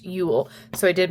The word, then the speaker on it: Uhl: I do want to point out that Cassie is also the artist of this, and it is pronounced Uhl, so I did mispronounce it.